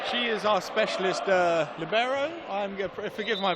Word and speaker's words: libero: the truth there's actually there seems to be no set pronunciation people say labero people say Libo it really seems to be up to the person saying it they so yes the